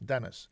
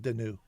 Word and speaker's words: Dennis: It's pronounced in English. Dennis, not Denu.